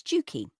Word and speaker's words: Jukie: And so from then on she wanted to be known as Jukie to rhyme with Pooky.